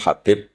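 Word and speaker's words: حبيب: Ada yang nulis Abi Abdurrahman Habib Asulami. Itu di harakatnya kitab itu ada yang nulis Hubabb. Tapi yang benar Oh, nggih. Yang benar itu bacanya habib.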